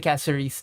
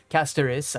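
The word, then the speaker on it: Castorice: But total DP AV damage for AV is increased by 85% on the Casaris team. Casteris, I should pronounce it like that.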